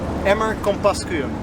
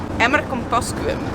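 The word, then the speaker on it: Emmer-Compascuum: Pronounce this at home. Emmer Compascuum. We're going to Emmer Compascuum.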